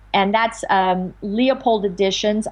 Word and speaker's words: Leupold: Both of my anthologies, Late Medieval Music and Renaissance Music, are published by Wayne Leopold. And that's Leopold Editions. I'll spell that. It's Leupold.